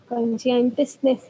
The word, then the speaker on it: conscientiousness: conscientiousness, ये शियस नहीं है ना, है, गूगल पे चेक कर। हाँ मैंने इसकी सुनी वो क्या कहते हैं प्रोनाउंसिएशन सुनी मैंने, दोबारा सुना देती हूँ सुन, ना। हाँ सुना दो। कॉन्शियंटियसनेस है ये अच्छा टंग ट्विस्टर बन